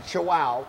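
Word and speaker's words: Chuao: So today we have another bar from Chihuahua, because remember that's how you pronounce it, C-H-U-A-O, Chihuahua, and it's their firecracker bar.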